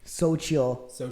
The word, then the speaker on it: Xochitl: But I really did love, we just learned how to pronounce her name. Xochitl Gomez.